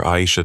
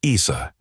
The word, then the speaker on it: Aisha: Madam Chair, my name is Aisha, pronounced Aisha, not Isa.